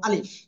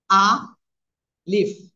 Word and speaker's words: আলিফ: অক্ষটা কিভাবে উচ্চারণ করব আ লিফ এভাবে না আমরা উচ্চারণ করব দ্রুত আলিফ আলিফ আলিফ কোন টান হবে না আলিফে যদি টেনে পড়েন তাহলে ভুল হয়ে যাবে দেখেন শেষের দিকে আমি